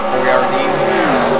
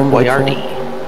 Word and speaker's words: Boyardee: Not actually spelled the way it is on the can. People couldn't pronounce it. It's B-O-I-A-R-D-I, but the can is B-O-I-A-R-D-E. Oh, stupid Americans could pronounce that easier.